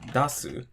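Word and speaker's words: 出す: Same thing with dasu, su, da. This is the second to last syllable, so the drop's going to be after the da.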